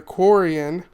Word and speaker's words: Quarian: So, she is a Coran, which I remember because it rhymes with Torion.